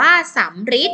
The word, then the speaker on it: สัมฤทธิ์: มา สัมฤทธิ์ อ่าน ว่า สัมฤทธิ์ อ่าน จำ ได้ ไหม ตัว หรือ ที่ หัว อยู่ ข้าง ใน เรา จะ ออก เสียง เป็น รอ เรือ นั่น เอง นะ คะ